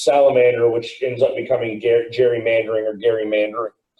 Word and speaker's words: gerrymandering: gerrymandering um or perhaps it actually should be pronounced gary mandarin um it's always it's always pronounced gerrymandering but it comes from elbridge gary who is